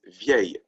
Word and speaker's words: vieil: Remember that one means the next word starts with the vowel, is vieille. It's pronounced the same way as the feminine singular.